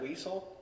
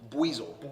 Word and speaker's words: Buizel: you said Weasel? Buizel. Weasel. Okay. Weasel. Okay. Weasel. I was like, have Weasel. I been saying it wrong the whole time?